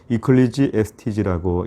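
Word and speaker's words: Ecclesiastes: 자 설교자를 의미하게 되었습니다 거기에서 영어가 나오게 되었는데요 이클리지 에스티지라고 이렇게 발음을 하게 되어 있습니다 결국은 이것은 설교하는 자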